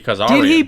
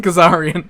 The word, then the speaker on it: Kazarian: did mispronounce uh Frankie Kazarian at once days this month he calls him Frankie kazaki because then everyone else called him Kazarian oh it's kazara in